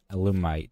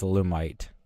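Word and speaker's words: Alumite: go with the along the aluminum loomite thing yes i finally said it right it's a lumite and then for the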